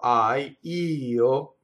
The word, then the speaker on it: io: So the word for io is an I that is the strong stress of the word. It's usually written as one note or one syllable, but you have to make a grace note for the O. But the io, is the strong part of it.